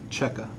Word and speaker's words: Checka: last name c-h-e-c-k-a okay and you pronounce it how it checker okay let's check my